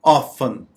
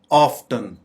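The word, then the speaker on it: often: हालांकि इसको हम दोनों तरीके से प्रोनाउंस कर सकते हैं। ऑफन, ऑफन या ऑफ्टन।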